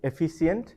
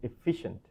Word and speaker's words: efficient: So not efficient, it's efficient.